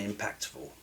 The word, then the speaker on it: impactful: Not just what's grammatically correct, but what truly sounds natural and impactful. Impactful. Impactful. Impactful. First syllable stressed.